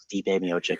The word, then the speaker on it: Stipe Miocic: I was like, Stipe Miocic, Stipe. And I'm also so bad with name pronunciation that like I'll say stuff wrong that